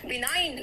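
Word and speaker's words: benign: बिनाइन, देखो जी silent यहाँ पे, बिनाइन तो नहीं है, इट्स बिनाइन है ना, काइंड।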